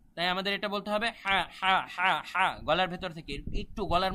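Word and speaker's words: ح: আর শুদ্ধ কোনটা তাই আমাদের এটা বলতে হবে হা গলার ভেতর থেকে একটু গলার মধ্যে প্রেসারাইজ করে চাপ দিয়ে হা এভাবে আমাদের উচ্চারণটা বলতে হবে হা তারপরে এটা দেখুন কিভাবে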